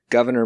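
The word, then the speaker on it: Gouverneur: a governor right because it's governor morris but no that's actually his first name it's spelled g-o-u-v-e-r-n-e-u-r governor morris that's a guy's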